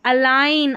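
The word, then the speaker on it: align: फिर यहाँ पर देखिए अलाइन, IGN आइन, तो अलाइन, अलाइन।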